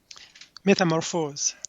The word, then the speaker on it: Métamorphose: The world premiere performance of his orchestral composition, Métamorphose, is that how you pronounce that? Metamorphose.